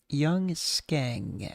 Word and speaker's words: Young Skeng: Young Skeng, as it is to be pronounced.